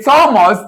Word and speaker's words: Thomas: The Thomas the H is silent.